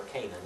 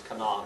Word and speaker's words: Canaan: The land of Canaan, or Canaan as we pronounce it today, is Canaan in Hebrew.